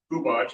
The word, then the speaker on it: Hubach: The way you pronounce my last name is Hubach, as in there are a lot of people who botch my name.